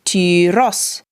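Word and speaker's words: τυρός: over the final syllable so just like sauce we hold the Upsilon for longer but the accent I.E the stress is on the OS so tiros you know in Jerusalem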